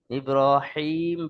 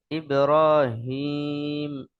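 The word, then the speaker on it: إبراهيم: আওয়াজে হাটা উচ্চারিত হবে অনেকবার এটা বড় হা উচ্চারণ হয়ে যায় ইব্রাহিম পড়েন তো সেটা সম্পূর্ণ ভুল। এ বিষয়টা খেয়াল রাখবেন। ইব্রাহিম পড়বেন না। ইব্রাহিম একটু গম্ভীর আওয়াজে উচ্চারণ করবেন।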